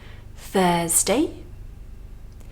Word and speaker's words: Thursday: Thursday. Here we have, of course, our voiceless TH. And we have a strong UR. That's the same as in words like hurt, turn, burn.